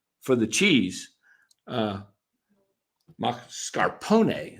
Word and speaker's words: mascarpone: so I went in and gave him the pronunciation for the cheese. Mascarpone.